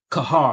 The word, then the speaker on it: Qajar: Kahar, I think it's pronounced Kahar.